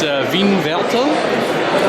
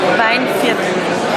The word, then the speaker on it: Weinviertel: I'll let you pronounce it because I bugger it up every time. It's Weinviertel? Weinviertel.